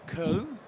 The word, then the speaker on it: Köln: So we're in Cologne, or Köln, if you're going to say it like the Germans, what the Germans do.